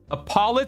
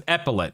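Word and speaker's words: epaulet: Up next, Adamantite Apollo. You know what? I'm going to look this up. I always I always struggle to remember Apoll pronun pronunciation. Here we go. So, it's an epillet.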